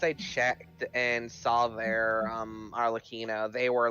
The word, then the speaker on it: Arlecchino: I actually discussed the pronunciation with the guy, and it's Arlecchino, not Arlecchino.